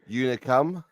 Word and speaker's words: Unicum: outp so so uh Jamie you mispronounce it it's called Uh unicum you didn't even know how